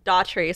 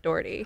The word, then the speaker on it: Doherty: with Dao tree no mispronounce my name because already da tree sounds better than Doherty I always think of